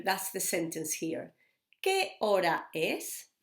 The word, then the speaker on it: hora: ¿Qué hora es? Now remember, hora has got an H, which is a silent letter. So we say, ¿qué hora es?